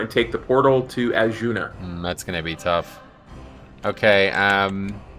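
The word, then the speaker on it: Azsuna: Yes, Azuna.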